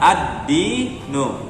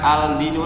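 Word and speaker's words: الدِّينُ: Kemudian disambung menjadi ad-dinu, dibaca ad-dinu, ad-dinu, bukan al-dinu lagi ya. Meskipun asal katanya al-dinu, tapi dengan adanya penggabungan huruf ini maka dia menjadi berharokat tasydid dan dibaca addi bukan aldi lagi.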